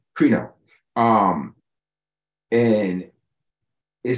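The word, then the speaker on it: κρίνω: or cry no or I would say Cree because it's got phonetically two e's okay so it's creno um and it says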